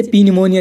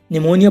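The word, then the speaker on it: pneumonia: guys इसमें देखो guys N से पहले पी आया हुआ है तो पी साइलेंट है इसे पी निमोनिया नहीं पढ़ेंगे निमोनिया पढ़ेंगे गाइस इसकी हिंदी भी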